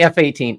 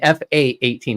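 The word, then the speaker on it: F/A-18: to have a talk don't say F-18 it's an fa 18 it's a fight attack 18 team I hate it when people say it wrong sorry I'm former U.S military say it right but yeah that that's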